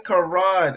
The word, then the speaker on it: Ka'ron: This is Karan. That's how you pronounce it, right? Karan, right? Karan, yep.